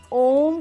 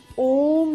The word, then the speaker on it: ओम: उच्चारण करना कैसे चाहिए देखिए ओम का उच्चारण जो है सबसे पहले आपको इसको आ ओ म इस तरीके से तोड़ के करना चाहिए जब आप आ बोले तो आपकी नाभि ओ बोले तो आपकी चेस्ट और म बोले तो आपकी माइंड आपके ब्रेन में वाइब्रेशन होनी चाहिए जैसे आओ